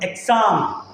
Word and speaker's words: exam: ഇതിൽ ഒന്നാമത്തെ വേർഡാണ് എക്സാം. എന്താണ് എക്സാം? ഇത് എക്സാം അല്ല, ഇത് എക്സാം ആണ്. എക്സാം, എക്സാം. ലെറ്റർ എസ് ആണെങ്കിലും ഇതിൻ്റെ യഥാർത്ഥ ഉച്ചാരണം സൗണ്ട് വരുന്നത് സെഡിലാണ്. എന്ന് വായിക്കണം.